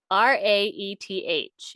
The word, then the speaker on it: Cyhyraeth: I'm gonna spell it for you guys. It's Cyhyraeths, and it's Welsh.